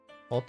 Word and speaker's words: Ute: I knew a German lady named Ute, pronounced Ute, and an Australian is a Ute.